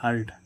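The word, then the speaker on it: hurt: अब इस यू के बाद क्या आ रहा है आर, तो इसका उच्चारण क्या होगा आ ध्वनि निकलेगी हर्ट। हर्ट है ना, तो हर्ट यानी कि चोट।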